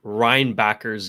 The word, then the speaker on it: Reinbacher: I really enjoyed David Reinbacher's game. He said, it's okay, guys. We can pronounce it Reinbacher. You don't have to do that German accent.